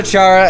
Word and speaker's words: Chara: But we call her Chara anyway. Yeah, exactly. This is it. They actually pronounce it Kara as a character.